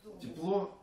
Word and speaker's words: тепло: Тепло дружеских встреч. А там и спеть. Тепло – это второе ударение, а радость – это первое ударение.